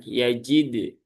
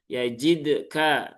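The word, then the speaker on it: يجد: Yajid, yajid, yajid. Tetapi ingat jangan sampai itu ada tambahan hamzah di setelah dal yang sukun menjadi yajid, yajid ka. Nah, itu juga kadang kurang tepat ya.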